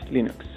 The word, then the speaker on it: Linux: Hello, this is Linus Torvalds, and I pronounce Linux as Linux.